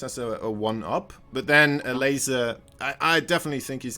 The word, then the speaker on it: Elazer: i don't know actually it's like a weird mix of polished english i guess in polish we say ago all right all right